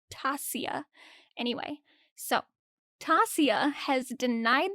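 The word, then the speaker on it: Tasya: is pronounced Vaughn and instead of Tasha it's Tasia anyway so Tasia has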